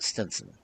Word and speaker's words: Stevenson: in the house of Widow Stevenson, generally pronounced Stenson.